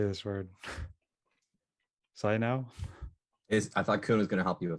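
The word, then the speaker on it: Cainiao: I was just busy eating a sandwich, but yes, the pronunciation, it's Cai Niao. Chino.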